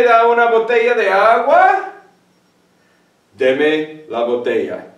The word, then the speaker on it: deme: Deme la botella. There's no accent there, it's only two syllables.